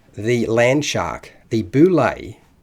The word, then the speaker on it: bulette: called the Landshark the boulay pronounced bulay rather than the boulette as I said is